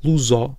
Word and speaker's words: luso: luso descendente, por exemplo, luso, nós dizemos o o aberto, que não seria o mais habitual, tendo em conta a